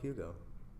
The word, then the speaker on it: Hugo: his name is probably Hugo around with everyone. Yeah pronounce it exactly like that. It's hug H was like kind of silent.